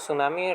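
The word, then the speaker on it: tsunami: इसे सुनामी कहते हैं सुनामी टी साइलेंट है आप लोग वर्ड याद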